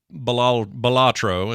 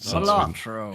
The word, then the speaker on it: Balatro: We also played Balatro, is what I've been told is how it's pronounced. Balatro.